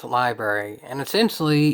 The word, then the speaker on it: LBRY: where you are but it's mostly pronounced library with an R in it it even has an